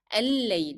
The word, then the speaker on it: الليل: So here, if you want to drop the pronunciation of lamb that is found in the definite article L, then you pronounce again 2 lambs because they are found under shadda. So it will be al-layl.